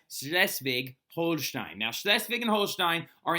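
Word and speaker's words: Schleswig-Holstein: second schv war okay now slesvig is how you say these provinces right and it's actually slesvig holin right slesvig Holstein now sches and Holstein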